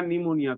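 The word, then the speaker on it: pneumonia: दीजिए निमोनिया हो जाएगा पी को हटाया नहीं जाता वो पी यहां साइलेंट होता है साइलेंट वर्ड को हम सर्किल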